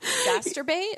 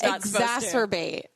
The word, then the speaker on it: exacerbate: this morning hard word masturbate it sounds like masturbate it's exacerbate exacerbate is not a word